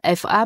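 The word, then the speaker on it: 法: On a traduit par la syllabe fa, mais fa en chinois, il y a une centaine de caractères. On a choisi le caractère fa au troisième ton, fa, qui signifie la loi, la règle, justice, effectivement.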